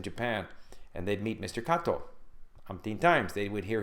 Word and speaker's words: Kato: Kato. Umpteen times they would hear his name pronounced Kato, but it's written K-A-T-O.